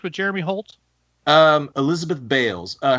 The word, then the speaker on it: Beals: Jeremy Holtz um Elizabeth Bales uh her name is spelled like Beals b e a LS but it's pronounced Bales okay I I I